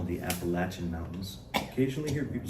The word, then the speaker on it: Appalachia: time, and she said, I hear these people coming around here saying Appalachia, and that ain't how you say it. And she said, and here's how you remember, in case you forget, here's how you remember. If you say it wrong, I'm gonna throw an apple at you.